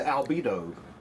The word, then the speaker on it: albedo: The albedo of the earth increases, which is like kind of rhymes with libido, which is like, you know, what you need to like make a bunch of commotion.